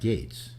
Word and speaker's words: Gaetz: Was your Matt Gaetz is how it's pronounced.